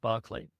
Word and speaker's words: Berkeley: The story concerns a woman who lives in the town of Barkley. In English, it's spelled Berkeley, but in English, it's pronounced Barkley.